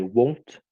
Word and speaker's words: won't: A gente tem que cuidar que às vezes algumas pessoas confundem a pronúncia dele com o verbo want. Então, I won't e I want, que é o verbo, tá? Querer. Então, we will not, fica